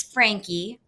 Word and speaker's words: Franke: And her husband, Kevin Franke, it's Frankie, I have determined because I've gone back and watched all these videos of Ruby introducing herself. And so you say her name, Frankie.